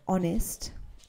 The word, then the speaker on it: honest: follow what you're saying remember that if there is an H at the beginning of a word except for an example like honor h o n o u r that's an example or honest h o n e s t the rest of Words which begin with h you you have to pronounce the h Hospital Hotel holy happy